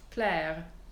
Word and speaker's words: Claire: In French, it would be pronounced Claire. In spoken French, you can hear I do that uvular R.